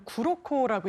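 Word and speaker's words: 黒子: 흑자내조 예 장사님 일본 언론에 저 화면을 띄울 텐데 이제 흑자 내조 저 무슨 뜻입니까 예 흑자라는게 일본어 표현으로 구로코라고 읽는데요.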